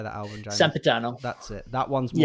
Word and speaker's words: Sempiternal: Sempiternal.